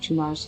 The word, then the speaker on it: Tunare: We're going west of Tunar's Sapling. It's interesting that they pronounce it Tunar, when it's spelled Tunare.